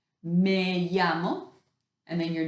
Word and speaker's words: me llamo: to say this so you start by saying may yama and then your name that's what it looks like me llamo and then your name